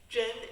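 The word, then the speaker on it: 甄: Zhen is also similar to the sound. No, it's the exact same pronunciation with the word real in Chinese.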